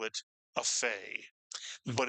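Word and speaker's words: פ: And lo and behold, when you take the doug h out of the pay, it is pronounced as the English letter F. And we tend to call this pay a fay.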